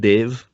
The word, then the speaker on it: Dev: make assumptions oh yeah it's pronounced Dave okay my last name